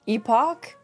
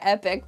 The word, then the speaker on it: epoch: Also, this clarifying note that the sun is from the 4th epoch. I like saying epic, but I know it's not exactly pronounced epic. It's epoch, right, guys?